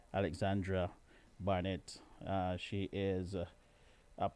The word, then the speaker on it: Alexandra: spotlight on alexandra alexandra making sure that i pronounce her name properly she's not alexander i am alexander she is alexandra alexandra barnett uh she is